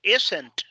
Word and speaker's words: isn't: The Sydney Opera House isn't. Okay. Y póngale énfasis a la T. Isn't. Isn't. Así se pronuncia.